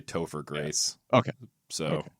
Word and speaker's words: Topher: How do you pronounce his first name? His real name, Yeah. not the character name, Topher.